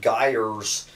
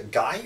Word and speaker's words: gyre: of the non-profit 5 gyres Institute is a guy or gyre I have heard that word pronounced both ways quote the mythology of